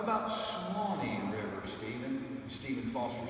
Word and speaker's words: Swanee: said, well, how about Swanee River, Stephen? And Stephen Foster said, that's it exactly. So he changed it from Sewanee to Swanee River to the 2 syllables.